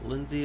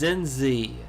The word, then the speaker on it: Zinzi: I think that's her name was Lindsay Mandela.